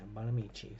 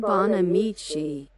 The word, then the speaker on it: Bonamici: Let's see, how do we pronounce this name? Okay. Bonamici. Yeah, Bonamici. So I was saying it correctly. Suzanne Bonamici.